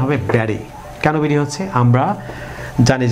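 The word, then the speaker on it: Betty: এটি আমেরিকান উচ্চারণ হবে ব্যারি। কেন বেরি হচ্ছে? আমরা জানি যে আমেরিকান উচ্চারণ হচ্ছে ইংরেজি কোনো শব্দে যদি দুটি ভাওয়ালের মাঝখানে টি থাকে সেটি হচ্ছে ডি, ফ্ল্যাপ টি উচ্চারিত হয় সেটিকে ডি এর মতো, ঠিক ব্যারি।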